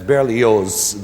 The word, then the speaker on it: Berlioz: brilliant French composer Hector Berlioz. That's Berlioz, the Z is pronounced.